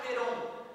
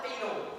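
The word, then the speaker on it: Clapeyron: chamada equação de cliron eu vou pronunciar muitas vezes cleron mas é porque eu sou dificuldade de pronunciar é cliron o nome do cara desde que eu sou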